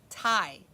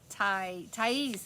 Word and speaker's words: Thais: Ty. Okay, Thais. That's right, Thais.